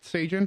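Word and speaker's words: Sjalin: The Sabres in exchange got Cal Slajan. Trying to pronounce this correctly. Frank, help me out here. Frank, help him. What happened? Cal Sagan. Oh, Sagan. Yeah, it's Sagan.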